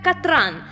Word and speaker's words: Катран: Самое смешное, что правильно ее имя произносится как Катран, но Атрус этот факт в упор игнорирует, продолжая называть ее Катериной.